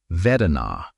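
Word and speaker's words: vedanā: The Pali word Vedana, pronounced v-e-d-h-n-a, gets translated as feeling, but that translation hides everything important.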